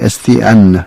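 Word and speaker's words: Estienne: 그 별명이 스테파누스 S-T-E-P-H-A-N-U-S 스테파누스 에스티앙 이렇게 말하기도 하고 프랑스 발음이기 때문에 에스티안 이렇게 말하죠.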